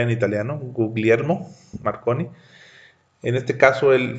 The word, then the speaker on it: Guglielmo: basó para leer y guillermo porque no puedo pronunciar en italiano guglielmo marconi en este caso él fue el inventor